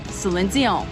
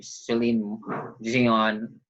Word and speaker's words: Celine Dion: So that's why the name Celine Dion, that pronunciation is French.